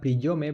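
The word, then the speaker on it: приём: se define con una palabra rusa escrita priyome, pronunciada priyom, y que lo que viene a significar es algo así como patrón.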